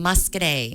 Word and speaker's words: Muscoda: one and only Muscoda, the most commonly mispronounced town in the state of Wisconsin, I think. It is. They call and say the village of Muscoda. Yep. So I hear that all the time. Muscoda. Yes, correct.